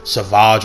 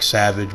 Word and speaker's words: Savage: Why his older brother Savage Opress? I know it's spelled like savage, but it's Savage, and his little brother